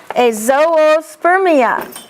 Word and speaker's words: azoospermia: Azoospermia. See, it has two O's and you need to pronounce them both.